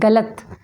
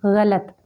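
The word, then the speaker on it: ग़लत: बहुत ध्यान देना है हम कहते हैं गलत तो गलत नहीं गलत हम कहते हैं खुद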